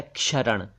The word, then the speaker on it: क्षरण: शब्द है क्षरण क्षरण यह शरण नहीं है शरण तो श से स्टार्ट होता है यह है क्षरण क्षरण क्षरण इसका मतलब है